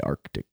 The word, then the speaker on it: Arctic: People just say Arctic and you just lose it. Lose that C.